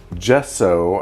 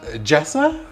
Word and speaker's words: gesso: i got a uh gesso i think it is so one adjective someone did jessa jessa no it's definitely an o at the end so someone definitely shouted